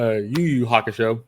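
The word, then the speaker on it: Yu Yu Hakusho: I'm saying it wrong I said it wrong I said yo-yo it's actually a YuYu Haka show my fault um I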